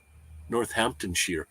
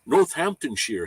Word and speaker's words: Northamptonshire: Um, I'm up the road in the former UK shoe capital, Northamptonshire. Northamptonshire. See, I got that one right. Shire is sheer.